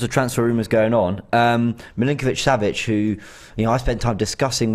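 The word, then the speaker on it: Milinković-Savić: I'm still struggling to pronounce his name, and I know we were practicing upstairs. Milinkovic-Savic. Yeah. I kept calling him Savage.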